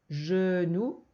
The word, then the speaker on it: genou: Genou, c'est le J de girafe. Genou.